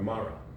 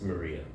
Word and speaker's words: maria: It's got Maya, or Mara, or no, it's Maria. It's Maria. It's spelled Maria, my sister's name, but it's Maria.